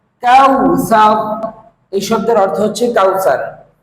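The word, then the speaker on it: كوثر: করে বলুন কাউ সা কাউ সা এই শব্দের উচ্চারণ হচ্ছে কাউসার কাউসার কাউসার এই শব্দের অর্থ হচ্ছে কাউসার অর্থাৎ আমরা সকলেই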